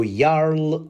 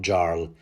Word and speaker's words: Jarl: pronounce it yl not Jarl even though it's spelled with a J because you know Viking name yl ask any Dane